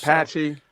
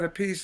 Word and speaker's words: Appice: Patchy. So how do you say? How do you want to say it? So most people said Appice, and I used to correct them.